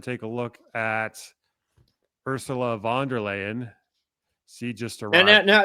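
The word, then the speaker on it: von der Leyen: Let's go ahead and take a look at Ursula Vanderlayan. She just arrived. No, no, no. You you mispronounced that. How did I Vanderlain? Vanderlane. No. Vanderly lying. Vander lying.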